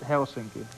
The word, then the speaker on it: Helsinki: That's a lovely We pronounce it Helsinki.